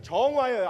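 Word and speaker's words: 정와: 뭐라고 읽느냐면 정화예요. 앞에 있는 두 자들은.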